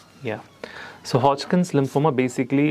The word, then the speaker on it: Hodgkin's: We pronounce it all right. It's it's Hodkins.